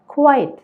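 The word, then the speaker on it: quite: കുട്ടികളോട് നിശബ്ദരാവാൻ ആവശ്യപ്പെട്ടു രണ്ടാമത്തെയോ ക്യു യു ഐ ടി ഇ അപ്പൊ ഈ വാക്ക് നമ്മൾ ഉച്ചരിക്കുന്നത് ക്വൈറ്റ് എന്നാണ് ഞാൻ ഒരു ഉദാഹരണം പറയാം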